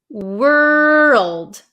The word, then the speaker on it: world: we have the word world world world so make sure you pronounce that L Word world world world okay you guys have